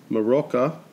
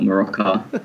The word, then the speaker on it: Morocco: pronunciation Iran not Iran and Morocco not maracas and like a drink and I was laughing